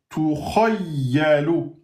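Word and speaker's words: تُخَيَّلُ: Donc, on prononce bien kha. C'est pas kha, kha en fatigue.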